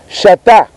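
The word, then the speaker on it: שתה: Et du mot grec, ce verbe qui s'écrit, qui se dit chata, C-H-A-T-H, qui est cité bien sûr 125 fois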